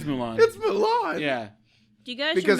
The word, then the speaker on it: Mulan: different ones and it mulan mulan wait yeah yeah actually it is mulan yeah do you guys